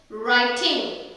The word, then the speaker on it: writing: For example, rap, wrong, wrist, writing. So இதெல்லாம் W silent இருக்கும்.